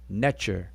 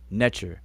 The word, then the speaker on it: Netcher: We transliterate that as NTR and we pronounce it Netcher. Netcher.